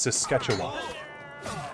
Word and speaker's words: Saskatchewan: No, it's Saskatchewan. I was trying to figure out how to pronounce that.